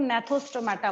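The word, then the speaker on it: Gnathostomata: होगा, उनको हम लोग नेथोस्टोमाटा बोलेंगे। उनको हम लोग क्या बोलेंगे, नेथोस्टोमाटा बोलेंगे। और जिसके पास जॉ प्रेजेंट नहीं होगा उसको हम लोग एनेथा बोलेंगे। यहाँ पे क्या होता है, जी साइलेंट होता है, सेकंड वाले में भी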